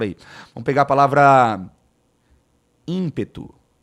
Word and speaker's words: ímpeto: Vamos pegar a palavra ímpeto. Ó, a palavra ímpeto, tá vendo aqui, ó? O M, eu não falo ímpeto. Não. É in, um fonema, um som só. In.